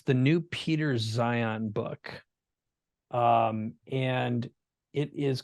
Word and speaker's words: Zeihan: And it's the new Peter Zion book. And it is called, I'm looking it up right now. So it's Peter, and his last name is it's pronounced Zion, but it's Zeihan.